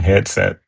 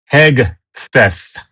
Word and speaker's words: Hegseth: Keep calling him Headset. Like, Headset. Pete Hegseth. Okay, I got to say his name slowly because I'm end up saying Headset.